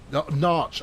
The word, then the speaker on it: Norwich: Narch, as in Norwich. Thank you. Right. Yeah. Good. Yeah. No, because you simplified it to one syllable, which you can get away with.